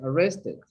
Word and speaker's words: arrested: Some verbs in past or past participle, you pronounce the ed, like this one, arrested.